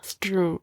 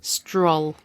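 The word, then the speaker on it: Strul: On stroll. Stroll. I like that pronunciation. Stroll. Stroll. Like what? Like he's strolling around.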